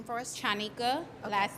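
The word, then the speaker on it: Chanika: a t h a m and can you pronounce your first name for us channika last name is great thank you guys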